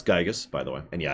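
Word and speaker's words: Giygas: war against gigus which I'm going to pronounce gigus by the way and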